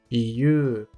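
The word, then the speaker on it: ゆう: A segunda leitura desse kanji é yu. Yu, com o prolongamento da sílaba yu, visto na palavra saiyu.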